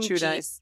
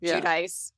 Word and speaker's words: Giudice: Giudice. Giudice.